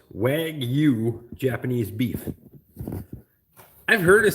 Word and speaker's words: Wagyu: It's pronounced Wagyu Japanese beef.